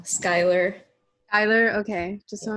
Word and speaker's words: Schuyler: it's for Brooke so your last name is pronounced Schuler no Skylar Ayler okay just so